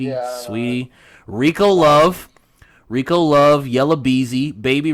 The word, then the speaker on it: Saweetie: I think it's Sweetie or So. I don't know how you pronounce her name. Saweetie, yeah, Sweetie.